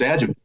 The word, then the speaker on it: adjuvant: No, you nailed it. It's adjuvant. So adjuvant is something that means after.